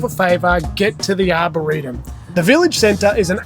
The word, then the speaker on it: Arboretum: Is that how you pronounce it? Yep, Arboretum.